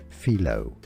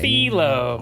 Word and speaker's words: phyllo: Phyllo dough. Phyllo! Phyllo pastry. I have been saying phyllo for a long time. let's learn how to pronounce this name. Philo.